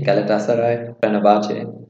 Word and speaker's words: Galatasaray: like i know to say only like three galatasaray perfect perfect pronunciation is yeah okay what about the other